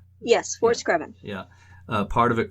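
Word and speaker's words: Fort Screven: of fort screvin called uh battery it is pronounced fort screvin right yes foreskraven yeah uh part of it called battery garland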